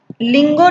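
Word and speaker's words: Tlawng: नदी है वो है लिंगो नदी। देखिए इसका जो स्पेलिंग है वो TL से स्टार्टिंग होती है, इसकी लोंग नदी कहते हैं इसको। इसका प्रोनाउंसिएशन टी साइलेंट है, नदी का नाम लोंग है।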